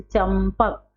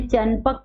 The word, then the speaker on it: चंपक: तो जैसे चंपक, हमने चनपक पढ़ा? हमने चैपक पढ़ा? नहीं। हमने चणपक पढ़ा? नहीं पढ़ा। क्यों?